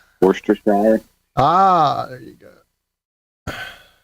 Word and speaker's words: Worcestershire: I want to hear about its pronunciation. Worcestershire.